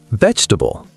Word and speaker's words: vegetable: Vegetable, 4 syllables become 3, vegetable.